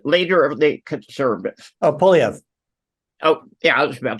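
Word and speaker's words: Poilievre: Now, you would have heard, I cannot pronounce the guy's last name, Paul, what's his name? The leader of the conservatives. Oh, Polyev. Oh, yeah, I was about to say that. Okay. He did. Pierre Polyev.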